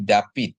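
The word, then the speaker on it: דָּוִד: sama D ya jadi David Ya tapi kalau kita kita pakai dialek askenasi dia jadi bacanya jadi da wi gitu ya Di mana Pap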